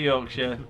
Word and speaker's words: Yorkshire: Yorkshire. The R is silent. But yeah, so the Tour de Yorkshire, big cycling event.